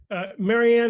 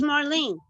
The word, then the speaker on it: Marlene: Christian could I ask Maryanne is your name Maryanne or do you pronounce it differently no it's Marlene Marlene just call me